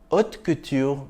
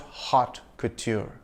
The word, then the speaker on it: haute couture: Haute couture means high fashion in French. The H is silent and the T is soft in French. So it's haute couture, not hot couture.